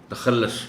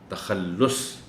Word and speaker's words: تخلص: یہ ہوتا ہے کہ جلدی میں لوگ اس کو تخلص پڑھ جاتے ہیں، جبکہ صحیح تلفظ اس لفظ کا ہے تخلص۔ شاعر جو اشعار میں